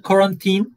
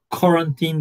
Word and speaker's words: quarantine: Isolation and quarantine. Quarantine diye okunuyor.